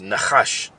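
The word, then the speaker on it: נחש: That word serpent in the Hebrew is pronounced nachash.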